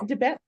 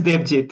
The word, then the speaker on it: Debjit: Debet. I'm sorry, pronounced it wrong, but all the way Debjit. from it. Sorry, go ahead. Yeah, India. yes. My name is Debjit.